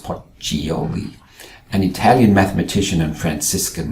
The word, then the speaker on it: Pacioli: Luca Pacioli, 1445 to 1517, pronounced Poccioli, an Italian mathematician and Franciscan monk, published the Summa di Arithmetica Geometrica Proportioni e Proporzionalità in 1494.